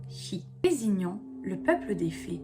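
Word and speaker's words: sìth: Son nom provient du gaélique, Kate signifiant chat et Said, prononcé chi, désignant le peuple des fées.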